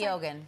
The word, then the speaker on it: Keoghan: How do we pronounce Barry's last name? Did we decide? Keoghan. Keoghan? Okay. Barry Keoghan.